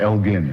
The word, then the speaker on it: Elgin: called the Elgin marbles, always pronounced wrongly in this country. It was Lord Elgin, in fact, hard G, that they had annexed in the 18th century.